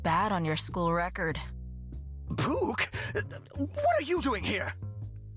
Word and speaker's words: Puk: Puke. What are you doing here? Okay, so it's pronounced puke.